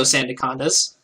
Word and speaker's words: Sandacondas: the Blizzards, Chicago Blizzards, Steven and the Sligo Sandacondas, as I have been informed it is pronounced, Chris and the Nottingham Neolegos, BK and